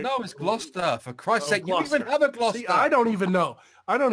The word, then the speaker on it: Gloucester: to be what glad Chester right now is Gloucester for Christ's sake I don't even know I